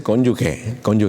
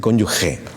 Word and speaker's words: cónyuge: Entonces, si tienen cónyuge, porque un profesor me dijo, no se dice cónyuge, se dice cónyuge.